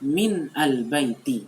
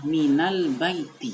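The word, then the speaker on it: مِنَ الْبَيْتِ: kasih baris sekarang dibaca Min Al Baiti Hai tolong itu diperbarui tolong diubah bukan sebut bukan seperti itu tidak seperti itu bacanya Hai Bacanya adalah mint albaiti Hai Ia memang asalnya adalah minumnya itu sukun nah orang Arab mencari kemudahan dan memilih harokat minum itu Dengan hormat serta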